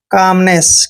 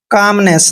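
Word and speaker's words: calmness: दोस्तों, एम का जब भी L पहले आता है, फिर L वहां है। चुप रहो।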